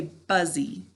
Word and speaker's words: busy: your adjectives page right busy or how do we say it to spell it but buzzy all right class what's our first syllable good buzz and our second syllable good e and i should have